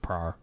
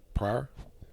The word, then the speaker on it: Pryor: It's pronounced Pryor. Pryor.